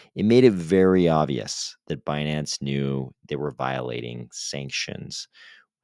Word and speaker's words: Binance: this three-year investigation into binance and also because Yellen kept pronouncing binance as bonance yes Janet Yellen thinks binance is called bonance the funniest part is